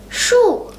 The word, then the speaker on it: 树: It's 树.